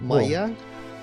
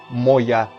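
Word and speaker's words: моя: that's the thing where it's written as o but usually pronounced as a anyway so who cares but I mean proper spelling would be o Moya and I guess some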